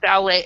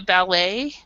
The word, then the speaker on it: ballet: A ballet, and we actually pronounce it ballet. We follow, I believe, the French pronunciation in that. So this is the ballet. So the T is silent.